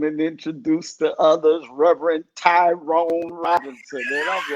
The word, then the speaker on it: Tyron: lying to byron tyrion it rhymes byron tyron they mess it up